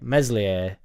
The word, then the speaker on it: Meslier: exactly where you're at melier mesier silent s will do for the